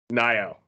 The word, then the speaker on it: Nayo: It's I'm gonna say the name wrong. Nayo.